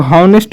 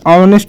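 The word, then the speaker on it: honest: फिर है यहाँ पर ऑनेस्ट मैन, इसको हम लोग हॉनेस्ट नहीं पढ़ेंगे जबकि पढ़ेंगे ऑनेस्ट मैन, प्रोनाउंसिएशन आपको सही आना चाहिए, तो यहाँ पर लिखेंगे ऑनेस्ट मैन।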